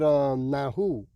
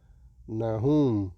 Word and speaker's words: Nahum: Well, I'm gonna leave it with Nahu. If I said that, pronounce it correct. If not, Salakia. Nahum. There, Nahum. Chapter 1, and I'll leave it with verse 15.